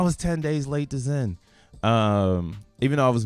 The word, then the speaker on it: Xen: I'm an organic zenan I thought Zen was stupid because of the X I didn't comprehend it I was like Zen spelled with a z but X is a